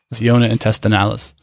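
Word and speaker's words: Ciona intestinalis: get in sure sure how do you spell that c e it's c i o n a siona intestinalis siona intestinalis there you go sea squirts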